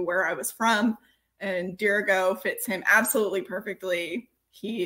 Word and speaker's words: Dirigo: half old uh d i have to ask dirigo why dirigo dirigo so it's spelled d-i-r-i-g-o and it is latin for i